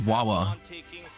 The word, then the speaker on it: Wawa: Wawa is the new wave. What is Wawa? It rhymes with Farfa, and it's like a little bouncing cat that looks stupid, so I guess it's me.